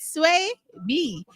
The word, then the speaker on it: Swaby: This is Sway B, right? Sway. Did I say I saw your name? I said it right. Yes.